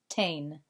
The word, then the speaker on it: ten: So tener's command is tain. Looks like 10, but it's pronounced tain.